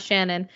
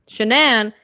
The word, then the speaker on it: Shanann: wife's name was shenan it's spelled weird I did look it up three times guys and the way she said it's shanan it's not Shannon just letting you guys